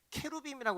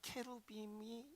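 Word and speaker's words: cherubim: 근데 이거를 저도 참 안타까운 게 이거 우리 한글 성경에 이걸 그룹 이렇게 번역을 했는데 그러니까 영어로 그리고 원문으로 읽을 때는 케루빔이라고 그래요. 케루빔. 그러니까 케루빔이 이제 스페링 자체가 한글로 이렇게 뭐 데이빗을 다윗 이렇게 한글로 번역한 것처럼 케루빔을 그룹이라고 읽어버린 거지.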